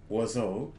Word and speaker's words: oiseau: Each oiseau, so each bird, has 6 somethings. And it's going to rhyme with bateau and Chapeau.